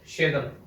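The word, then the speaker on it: siedem: फिर है शेदम, शेदम। मैं फिर अंग्रेजी में लिखने लग गया, रोमन अल्फाबेट में, इसमें नहीं लिखना है। शेदम, शी ए दम, श में छोटी ई, ए दम, शेदम, शेदम, शेदम।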